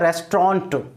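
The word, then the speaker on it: restaurant: भी ध्यान रखना है इसका प्रनंसीएशन होता है रेस्टोरेंट देखो हम क्या बोलते थे रेस्टोरेंट रेस्टोरेंट नहीं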